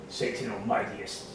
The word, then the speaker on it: Satanomediumus: We are here with Satanomediumus. Satanomediumus. Fuck, I said it wrong. Yeah. So basically, Satano, medium, us. 3 segments. Alright. Put into one.